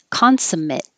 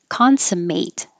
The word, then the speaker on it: consummate: is also grumpy surly if it's a noun it's consummate the ate sounds like it if it's the verb it's consummate the ate sounds like eight well actually isn't this